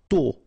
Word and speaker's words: tôt: Tôt. Okay, final D not pronounced, and then this O accent circumflex is a bit stronger than normally. So tôt.